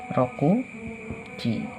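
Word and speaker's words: 六: Satu lagi seperti biasa, rokuji. Rokuji. Ini bukan kanji, ini huruf hiragana biasa. Artinya jam 6. Baik, ini adalah kanji angka 6. Cara membacanya adalah roku yang berarti 6.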